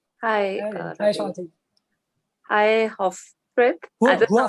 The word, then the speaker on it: Huafrid: Hi, Huafrid. I don't know how you pronounce it. Huafrid. Okay. Yeah. Huafrid.